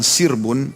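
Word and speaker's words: سِرْب: dalam kondisi aman itu kalau dibacanya dengan fathah sarbun kalau dibaca dengan sirbun dengan huruf Sin yang di kasra berarti sekawanan binatang liar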